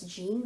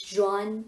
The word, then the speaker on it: Jean: so this is gina usually we pronounce this as gene but this is john psja so jean-pierre j